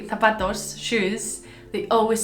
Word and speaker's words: zapatos: Oh my gosh, my family, when they say zapatos, shoes, they always say put on your zapatos. So they always say it with an S, but in Spanish it's with a Z.